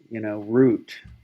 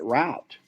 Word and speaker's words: route: We've had whole discussions on just how to pronounce, root, because if you get up, as you know, because you go to activities up in the Midwest, once you get probably a little north or east of the Illinois Missouri border, people start pronouncing it route, Yeah. and I had to. It was hard for me to convince, some people that, hey, some people call it route.